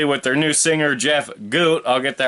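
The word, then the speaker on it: Gutt: Obviously with their new singer, Jeff Goot. I'll get that right this time since I've been pronouncing it wrong and y'all been giving me hell about it.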